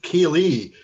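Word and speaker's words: ceilidh: yes marissa akeley is pronounced kaylee as k-a-y-l-e-e is a gaelic word of the scottish garlic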